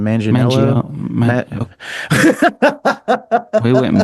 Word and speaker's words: Manganiello: How do you pronounce his last name? Manganiello. Mangio, Ma- we went in about two different directions. that guy. Manganiello, Manganiello.